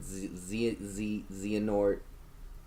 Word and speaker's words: Xehanort: my Kingdom Hearts 3 ending, they finally, they beat, what is it, Xehanort, or however you want to pronounce it.